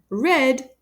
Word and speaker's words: read: taking place now and red pronounced the same as the color is the past tense of read the action of comprehending